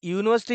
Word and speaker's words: university: If you observe this word university, this university is a word which has been started by using vowel sound, vowel letter. Though it is a vowel letter, the pronunciation which the word gives is consonant pronoun.